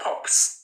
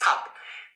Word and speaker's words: Pap: It's not pops. It's not pops. It's pap. The word is Papa Nicolau.